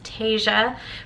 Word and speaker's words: Tasia: wrong my entire life it's Tasia but it's spelled tees I a so you can imagine